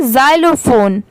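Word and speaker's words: xylophone: तो देखिए ये बहुत इजी है, इसे आप ऐसे पढ़ सकते हैं जैसे XY, इसे क्या पढ़ेंगे जाय, इसकी साउंड क्या आएगी जाय की, LO लो और PHONE फोन, इसे क्या पढ़ेंगे जाइलोफोन।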